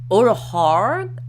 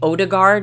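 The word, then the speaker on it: Ødegaard: Thomas Odegaard, I think that's how you say that, or maybe not. It would be Odegaard if you're saying it phonetically in American English.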